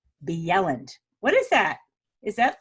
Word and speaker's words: Bjelland: ll a and D B Yelland what is that is that like snowy Jen oh no agents and they also pronounce the like the Y like I mean a J like a Y I'll it's